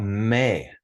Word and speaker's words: me: think of that because it's spelled the same way me it's pronounced May in Spanish but it's me all